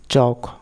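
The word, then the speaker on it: chalk: Rule নম্বর 16, এলকে এর আগে ই বা ইউ না থাকলে এলকে এর উচ্চারণ হবে ক, সেক্ষেত্রে এল অনুচ্চারিত থাকে। যেমন টক, ওয়াক, চক, এই টাইপের।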